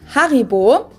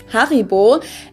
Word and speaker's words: Haribo: haribo is actually german we pronounce it haribo haribo and again the name